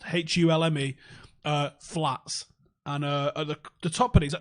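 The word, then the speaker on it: Hulme: Google Hume hates you LME that's how it's pronounced hu LME flats and uh the toppings we used to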